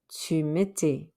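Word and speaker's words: tu mettais: e s what do you end up with chu miti remember we don't pronounce the s on mitti what does it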